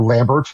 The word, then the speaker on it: Lambert: Look up, when you get a moment, look up Christopher Lambert, or Lambert, if you want to be phonetically.